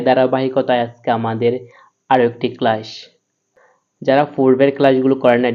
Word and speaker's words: قل: কুল, এই কফটা জিহ্বার গোড়া তার বরাবর তালুর সঙ্গে লাগাইয়া উচ্চারণ করতে হবে।